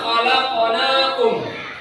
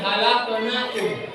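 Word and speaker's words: خلقناكم: Bukan halaqnakum. Khalaqnakum.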